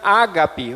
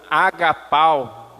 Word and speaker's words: ágape: A palavra amor aqui nesse texto do grego significa ágape ou agapau, dependendo da forma de pronunciar, que é um amor